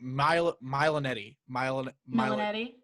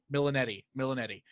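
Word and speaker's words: Milioti: I looked up her name so I could pronounce it for this thing. Milanetti. Milanetti.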